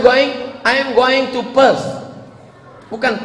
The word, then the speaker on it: Perth: I am going to Perth. bukan pes.